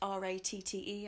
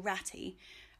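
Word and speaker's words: Ratte: out the rat potatoes, which is spelt R-A-T-T-E, I don't know if you say it rat or ratty, but they are a sort of derivative potato of the pink fir apple, but less knobbly.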